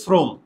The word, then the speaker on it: শ্রম: তাহলে দেখো তো, শ্রম, খেয়াল করো, শ্রম, আমরা আমি আমি আগে ম্যানুয়ালিতে যাই, মানে নর্মালি শ্রম, এভাবেই তো ইংরেজি উচ্চারণটা, এভাবে না?